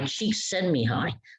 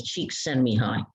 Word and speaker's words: Csikszentmihalyi: I think he's Russian or Eastern European, Mihai Csikszentmihalyi. So his first name is Mihai, his last name is Csikszentmihalyi.